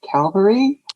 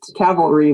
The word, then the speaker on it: cavalry: to the end credits and the vor just pronounced cavalry calvary really and so i gave it four and a half stars which might also be accurate for the film it was a calvary lieutenant cavalry lieutenant oh wow it was a lieutenant not